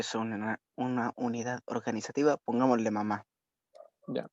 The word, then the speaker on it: mamá: Si es una unidad organizativa, pongámosle mamá. Ya, va el acento en la, ¿cierto? Mamá.